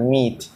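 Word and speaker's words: myth: সহজ লাগে সেটাই লেখবা মিথ আমি এটা আগে মাইত উচ্চারণ করতাম ঠিক আছে পরে দেখি না এটা মাই না মিথ মিথ মানে পুরান কথা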